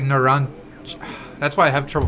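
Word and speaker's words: Narancia: Yeah, it's like Narancha. That's why I have trouble pronouncing it. It's Narancha. Like, CJA at the end.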